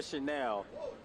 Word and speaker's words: Chenal: It's spelled Chanel. Yeah. You're a fashion guy, and I know you know what Chanel is. That's right. So it's Leo Chanel.